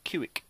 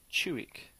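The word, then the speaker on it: Ciuc: from the romania actually told me how to pronounce the one that i called kuik so i haven't seen that it's a fantastic romanian beer so go and check it out but it's actually pronounced uh chuwick so thank you again for the pronunciation tips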